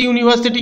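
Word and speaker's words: university: ইউ দিয়ে শুরু হচ্ছে ইউনিভার্সিটি কিন্তু উচ্চারণ হচ্ছে ইউ।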